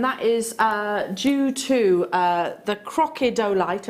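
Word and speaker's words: crocidolite: is due to the crocodolite, I always have to say it like that, not crocodile, crocodolite inclusions, which is the same material which is responsible for the chatoyancy within your tiger's eye.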